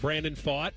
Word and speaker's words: Brandon Pfaadt: ago, and I finally figured out how to pronounce his name. Okay, what do you got? Brandon Pfaadt.